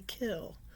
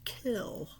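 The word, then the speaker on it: kiln: fires it in the kill. That's spelled K I L N. A lot of people pronounce it kil, but I was taught by an art teacher that it's actually pronounced kill.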